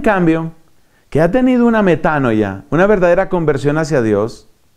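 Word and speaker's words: μετάνοια: Metanoia. Así como suena. No le pongas ninguna H ni nada. Metanoia.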